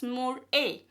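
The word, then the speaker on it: MurA: pyrovinile transferase which is also known as mur a that is more a.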